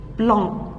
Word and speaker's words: blanc: Il y a un frigo blanc. Le C ne se prononce pas.